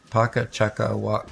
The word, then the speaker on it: Paka Chakawaka: See, the thing is, I think you're missing a syllable there. Paka Chakawaka. Oh, no, you have it right.